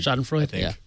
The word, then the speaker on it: Schadenfreude: This is like this is no Schadenfreude here, or whatever that word is. I can never pronounce it. You got it right. Schadenfreude.